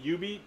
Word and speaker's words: Jubeat: Um, and watching me play UB. It's pronounced UB even though it's spelled Jubet.